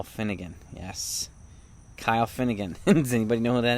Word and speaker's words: Kyle Finnegan: from the nationals yes name starts with k and it rhymes with isle finnegan yes kyle finnegan does anybody know what